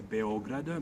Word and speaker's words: Beograd: of belgrade doesn't have l so it's a beograder b-e-o-g-r-a-d that's how it's written and it's a uh pronounced beograd and it exactly means white city